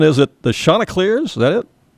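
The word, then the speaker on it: Chanticleers: Their nickname, their mascot, you mentioned it already, the you correct pronunciation. Is it the Shantaa Clears? Is that it? Shanta Clairs.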